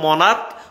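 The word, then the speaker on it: monarch: tension নাই তাইলে ভাইয়া সিএচ এর উচ্চারণ ক এর মত হলে আমরা শুধু এসে যোগ করবো মনার্ক মনার্কস এই যে তুমি উচ্চারণ করো এম ও এন এ আর সি এইচ মনার্ক মনার্ক মনার্ক এখানে ডাবল এস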